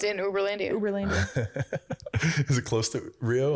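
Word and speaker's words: Uberlândia: All right, we got to talk about Uberlandia. Doesn't sound. Did I say it right? Oh yeah, Uberlandia.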